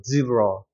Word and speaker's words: zebra: 자, 이거 같은 경우도 여기에 강세가 적용이 되고 얘는 약한 슈아 발음이기 때문에 zebra가 되는 거고 zebra.